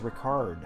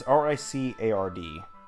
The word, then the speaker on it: Ricard: I say it's R-I-C-A-R-D. So that's why I say or say it like Ricard.